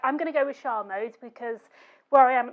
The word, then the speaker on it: Charmode: richard and he says because it's a french-inspired name it should be shar mode but because it's an